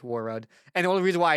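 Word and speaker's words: Warroad: Is that what's called War Rock? Did I say that correctly? Did I not say it correctly? I think it's War It's War Road. Dang it. It's War Road, Minnesota.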